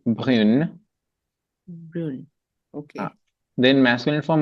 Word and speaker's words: brune: So the masculine form is brun, brun. Okay, then feminine form is brune.